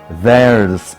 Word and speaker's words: theirs: Dalam bahasa Inggris, milik mereka diucapkan theirs. Theirs ada S-nya. Mari kita praktekkan dari kalimat pertama.